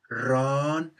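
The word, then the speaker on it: ร้อน: with this word so when we put a high tone mark on top of it the syllable becomes instead of ron it becomes ron ron a high tone syllable and therefore gets the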